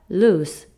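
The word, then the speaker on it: lose: 의외로 우스 짜 나요 벨로우즈 아니고 발음 어떻게 한다 루스 라고 발음을 한다 그래서 머 루 스프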